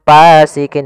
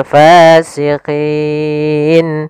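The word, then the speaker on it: فاسقين: alif panjangnya dua harakat hati-hati dalam melafalkan Fa harus ada nafas yang dikeluarkan karena dia sifatnya S jaryanun nafas jangan pasikin dengan P gitu ya banyak yang mungkin ada yang membacanya dengan pa gitu ya dengan p Nah harusnya tidak dibaca dengan p kemudian padafal fasikin pada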